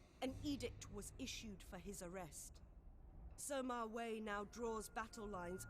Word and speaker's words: Sima: Now, pronunciations, once again, are going to be hard because we haven't learnt them all yet, but it's Sima.